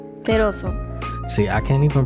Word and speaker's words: Perozo: Perozo. See, I can't even pronounce that right. Perozo. See, now you said it American way. Now say it with the actual Latin. Perozo. The sazon. That's how you say it.